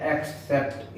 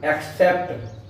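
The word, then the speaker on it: accept: अब देखिए double C है, एक सी ये हुआ और एक सी ये हुआ। अब इस पहले वाले सी का प्रोनाउंसिएशन क्या है? क। और बाद वाले सी का प्रोनाउंसिएशन क्या है? स। इसका कारण क्या है? ये जो पहले वाला सी है इसके बाद क्या है? ई आई वाई। इन तीन में कोई नहीं है, यहाँ क्या सी है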